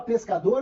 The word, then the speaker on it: pescador: Só que na palavra pescador eu não tenho o dígrafo. Por quê? Porque eu tenho o som do S e o som do C.